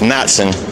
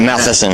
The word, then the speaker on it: Matson: And you can let them know my last name's pronounced Matson. It's not Matheson.